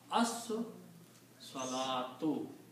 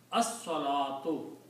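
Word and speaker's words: الصلاة: So you pronounce As Salatu. As Salatu. The prayer. Okay? So when you combine these, you do not pronounce Lam, but you pronounce Swad twice.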